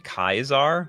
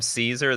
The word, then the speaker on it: Caesar: then they're dead that's the proper Latin pronunciation kaizar oh oh so what what is when people call him Caesar that's just a butchered like American thing America butchering the pronunciation for everything nothing is pronounced the